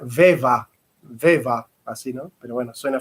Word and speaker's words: Weber: Ver se pronuncia Weva, ¿no? Porque en alemán es A, ¿no? Entonces, en general nosotros decimos Weber o Weber, pero en realidad se debería pronunciar Weva, así, ¿no?